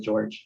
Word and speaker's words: Jorge: It's Jorge, but I pronounce it George.